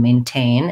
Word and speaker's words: maintain: So maintain, second syllable stress. They both have the A, tense A vowel. So like may. So main and rain, they have this A sound. So maintain, just make sure that you're stressing the T, the syllable with tain, maintain, and you actually say the T sound there.